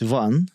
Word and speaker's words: Ivan: Actually, like in Russian, it's Ivan. But obviously for English speakers, it's easier to pronounce it Ivan.